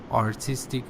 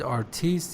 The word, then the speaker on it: artist: just an example you said artiste it's artist and also you said